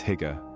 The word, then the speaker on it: hygge: Experience Hygge, the Danish art of coziness that's become a worldwide phenomenon. Hygge, pronounced hygge, is not just a word but a concept, a feeling, an experience.